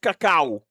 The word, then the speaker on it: cacao: But I hear some people is call it cacao. That's the proper way to pronounce that because only some come